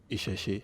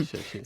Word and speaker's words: Isese: It's spelled Isese. How do you pronounce that? Isheshe. Isheshe. Yeah, Isheshe. So that's the name of